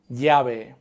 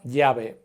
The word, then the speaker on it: llave: And 2 L's don't sound like an L. This word, for example, for key would be llave. Chapa, llave.